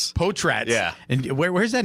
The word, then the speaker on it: Potratz: Uh it's Potratz. Potratz. And where where's that name come from? Uh Potratz is a Where did it come from again?